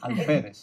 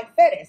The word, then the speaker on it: Alférez: All right, so I hope I'm pronouncing it right, because I know there's an accent on the E. ALFÉREZ. Yeah. ALFÉREZ.